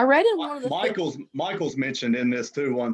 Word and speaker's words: Michael: They talk and how much they feared Michael, and it's pronounced Michael. I think it says it has 3 syllables.